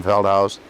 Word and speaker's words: Feldhaus: Okay, my name is Feldhaus. is common spelling. Feldhaus is spelled F-E-L-D-H-A-U-S.